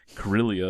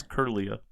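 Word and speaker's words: Kirlia: We always read it wrong. Curillia is what we always want to say, but it's Curia.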